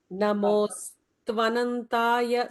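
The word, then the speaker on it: नमोऽस्त्वनन्ताय: Namostvanantaya stva. Namostvanantaya. Namostvanantaya. Yeah, just that, practice that one particular line, underline it. Stva. So, sa, ta, va, all three together should be pronounced.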